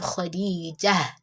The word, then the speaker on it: Khadijah: Like when you want to stop, you pronounce it as ha. For example, when you have Khadijah, Khadijah, what actually ends the word Khadijah or the name Khadijah is ta marbuta.